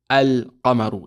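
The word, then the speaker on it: القمر: Now, if you notice, we say al-qamaru. Is the lam pronounced? Yes, the lam is pronounced.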